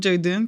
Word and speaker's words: Jordan: Donc, j'ai voulu donner le nom Jordan comme pour le joueur Michael Jordan, que j'adore.